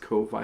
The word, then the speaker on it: Ko-fi: I know it's intended to be related to coffee, but it's pronounced Ko-Fi, like Wi-Fi. I don't know.